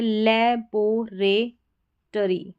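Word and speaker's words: laboratory: यहाँ पर O का उच्चारण, ये जो O आ रहा है इसका उच्चारण अ है, और RY का री, RY का री, तो ये है लेबोरेटरी, लेबोरेटरी, यानी ये जो O है इसका उच्चारण अ है।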